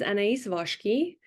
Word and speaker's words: Anaïs Voski: My name is Anaïs Voski, pronounced like that because I'm Turkish Hungarian.